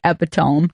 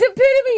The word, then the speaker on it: epitome: I have a memory of a friend of mine reading aloud in high school, and he said epitome, and we were loving it. What? It's epitome, you dumbass!